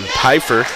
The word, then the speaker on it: Pfeiffer: Pronounce a P. I got a name correction there. Jackson Pfeiffer. The P is not silent in Oakley, Kansas.